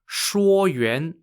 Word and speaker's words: Shuoyuan: Mengchang is spelt M-E-N-G-C-H-A-N-G. The text Shuoyuan, spelt S-H-U-O-Y-U-A-N, mentions that the Lord Mengchang played